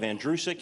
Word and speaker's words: Andrewsic: The last name is pronounced like the boy's name Andrew, who is sick. You run it together, you have Andrewsic.